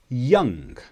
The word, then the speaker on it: young: For example, young, the sound becomes ung.